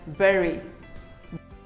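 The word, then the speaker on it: bury: Do you call it bhari, bhuri or bhuri? Well, none of them is correct. It is simply pronounced as berry. Berry. Say berry.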